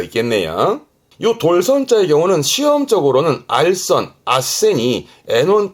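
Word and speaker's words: 斡旋: 그래서 발음이 아센. 아센.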